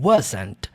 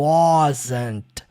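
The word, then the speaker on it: wasn't: coisa muito importante gente a pronúncia dessa palavra não é o Waze tá muita gente pronuncia o wass Mas você puxa mais para o de acordo com a transcrição fonética tá você sempre vai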